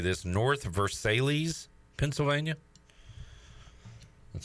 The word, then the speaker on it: Versailles: Jerry is in, I'm going to try to say this, North Versailles, Pennsylvania. That sound right? Spell it? Versailles. Versailles. It's French. Bonjour.